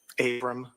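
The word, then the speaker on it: Avram: Abram.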